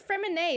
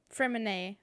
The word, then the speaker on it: Freminet: Finch that's very cute oh it's freminate isn't it I'm mispronouncing it um he's not in the archive yet for some reason his name card is there freminet I think there we go because it's French so there's Lenny Lynette